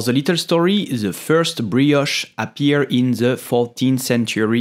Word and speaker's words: brioche: how to pronounce it we will say brioche brioche I repeat brioche brioche so if you cannot say the air like the French do you can also say brioche it's not perfect but it's already good